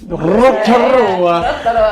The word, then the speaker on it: Rotorua: Rotorua.